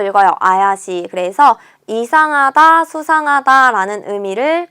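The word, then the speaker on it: 怪しい: 쇼 발음이 비슷하지만 의미가 완전히 달라지는 거 체크하셔야겠죠? 3번에 이형용사 나왔습니다. 자, 요거 어떻게 읽냐면요. 아야시라고 읽어요. 아야시.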